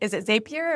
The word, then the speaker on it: Zapier: Is it Zapier or is it Zapier?